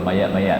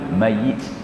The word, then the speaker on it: mayit: Ya, sepatutnya mayit. Nak pergi mana ni? Nak pergi tengok mayit. Ya, dia punya pronunciation dia tu boleh mengubah makna, ya.